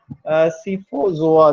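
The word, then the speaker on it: Scyphozoa: अगर हम देखें तो अगर इसकी प्रोनाउंसिएशन करें तो सी वाई जो है वो साइलेंट है, तो ये बनता है सीफोजोआ जो है।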